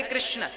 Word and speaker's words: कृष्ण: शुद्ध उच्चारण इसका क्या है? हरे राम राम राम हरे हरे, हरे कृष्ण कृष्ण कृष्ण हरे हरे।